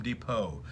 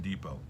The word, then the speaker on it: Depot: It's Home Depot. The T is silent in Depot.